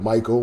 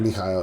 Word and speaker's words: Mikhail: Mikhail is how you pronounce it. Yeah. And we went with Michael when we were having a conversation with him